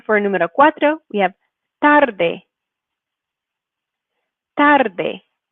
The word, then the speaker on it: tarde: Next one for número cuatro, we have tarde. Tarde. You can hear how that first syllable is the stressed one.